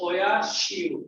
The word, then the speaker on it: Oyashio: And this, how do you pronounce? This is Oya Shio.